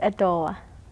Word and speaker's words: Edo:wa: Peywa: Turtle is Edo:wa. Lopez: Edo:wa.